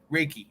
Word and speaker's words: Reiki: the Ricky Reiki I'm am I pronouncing it Ricky Ricky Reiki okay um so for a